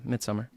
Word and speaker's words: Midsommar: So then, she had her B-day and Midsommar. Is that how you say it? Midsummer. Yeah, Midsummer. Oh, you just say summer.